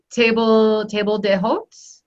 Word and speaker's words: table d'hôte: That table d'hôte.